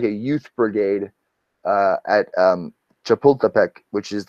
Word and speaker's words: Chapultepec: The day honors heroes of the 1847 Battle of Chapultepec.